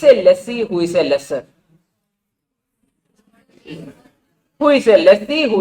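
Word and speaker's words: lessor: Lesie then lesser or you can call it lesser. Okay, whatever way you call it, it's up to you. Now people, what rhymes with owner? Lesser.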